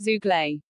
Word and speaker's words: Zoogler: They are called Zoogler, which is pronounced Zooglay.